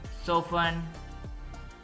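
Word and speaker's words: soften: party party फसन बांधना सो फन इसमें T silent है सो फन नरम करना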